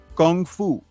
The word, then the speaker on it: gung fu: never seen before called gungfu and the way Bruce Lee pronounced it he pronounced it Gung Fu like with a G instead of a k and when he did